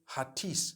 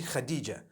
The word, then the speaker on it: Khadija: I would say Hatis for that. No, it's actually Khadija.